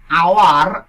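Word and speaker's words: hour: এবার we rested for অ্যান আওয়ার। আওয়ার শব্দটির সামনে একটি এইচ আছে, এই এইচটির উচ্চারণ বাংলা আ এর মতো হয়েছে, তাই আমরা এখানে আর্টিকেল এন ব্যবহার করব।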